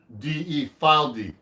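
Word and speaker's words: Fylde: a nice guitar made in England they've called this spelled f-y-l-d-e file d they know they exist they're not really big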